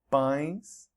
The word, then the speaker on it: pães: Pão becomes pães, pão, pães, and alemão changes to alemães, alemão, alemães.